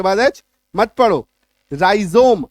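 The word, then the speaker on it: rhizome: राइजोम आर एच आई जेड ओ एम ई राइजोम clear है आई बात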